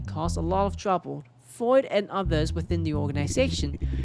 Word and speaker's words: Freud: Fruit? No. Fred. Freud? Google. I need your help. Freud.